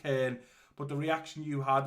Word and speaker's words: Köln: I read it as Cologne, but it's pronounced Köln.